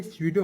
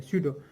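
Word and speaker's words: pseudo: स्यूडो, ठीक है, स्यूडो, जी पी स्यूडो नहीं, ये स्यूडो है, यहाँ पे पी साइलेंट है, स्यूडो।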